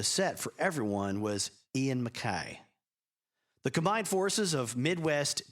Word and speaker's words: MacKaye: Ian MacKaye, and I pronounce it that way because Henry Rollins pronounces it that way, Ian MacKaye was